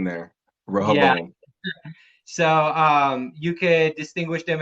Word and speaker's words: Rehoboam: I think it's Robo Rehoboam. Rehoboam. Is that Yeah, what it is? yeah, Uh, yeah. I think there's a ho in there. yeah. Rehoboam.